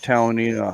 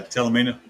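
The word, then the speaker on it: Talimena: We rode that Talanina highway. I don't know if that's how you pronounce it or not, Jay. Yeah, Talamina.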